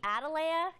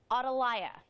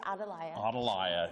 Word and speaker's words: Atalaya: I just learned it's Adelia yeah you talk to most people you're going to hear adalea which is the southern pronunciation of it um it's actually a